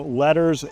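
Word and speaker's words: LETRS: So, letters, gifts, but note it is not spelled letters like you would think. It's spelled L E T R S and that's actually where I buy all my closing gifts.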